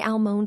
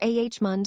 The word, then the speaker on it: almond: Do you say almond with a clear L or ah mund swallowing the letter completely?